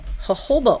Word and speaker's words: jojoba: little um travel size jojoba oil which is the j-o-j-o-b-a is pronounced jojoba and um I have